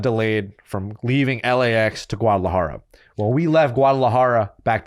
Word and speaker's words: Guadalajara: So when we went to Corner Heinrich in Guadalajara, Say it better though. Guadalajara.